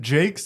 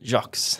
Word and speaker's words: Jacques: I'm here with Kevin Jake jocks how do you say your last name jocks jocks hell yeah I had